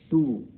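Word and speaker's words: two: टू, TO2 TW, यहाँ W भी यहाँ पे साइलेंट है।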